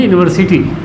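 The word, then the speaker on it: university: यहाँ यू से शुरू है, ये भी यू से शुरू है, लेकिन अगर हिंदी इसका हम प्रोनाउंसिएशन करेंगे तो ये या से लिखाता है इस तरह से कुछ, और ये लिखाती है यूनिवर्सिटी, यूनिवर्सिटी।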